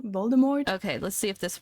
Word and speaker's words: Voldemort: I'll just revive later you don't pronounce it with a t Voldemort right I need to